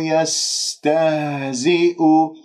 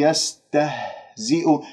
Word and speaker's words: يستهزئ: حتى لا تقول يستهزئ، هذه هاء لا علاقة لها في منطقة أقصى الحلق، هذه هاء صدرية، هاء من الرئة، يجب أن تحس منها هنا باهتزاز، راح تهتز الأوتار الصوتية هنا، هذه هي الهاء الحقيقية من أقصى الحلق.